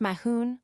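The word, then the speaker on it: Mathghamhain: Matthew is in like manner the Anglicism of Mathcamhain, pronounced Mahoon or man, and meaning a bear.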